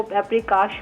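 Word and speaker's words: paprikás: तो इसीलिए उसको जो प्रोनाउंस किया जाता है वो पेपरिकाश कहा जाता है।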